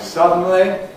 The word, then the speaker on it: suddenly: We studied syllabic consonants in words like suddenly. Suddenly, suddenly it's three syllables.